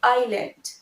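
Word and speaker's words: island: Next, আইল্যান্ড। Normally IS আমরা কি বলি ইজ, কিন্তু এটা ইসল্যান্ড নয়, it will be আইল্যান্ড, আইল্যান্ড।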